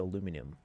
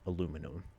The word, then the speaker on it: aluminum: didn't notice it before aluminum chat that's how it's pronounced aluminum looks like an official